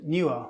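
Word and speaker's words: Neewer: lighting and tripods i recommend a brand called newer which is spelt n double e w e r and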